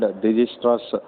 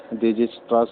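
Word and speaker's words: Dijkstra: at an algorithm called Dijistra's algorithm. We have to pronounce this algorithm. Actually, the spelling is Dijktras, but we have to pronounce this as Dijistra's algorithm. Here K is silent.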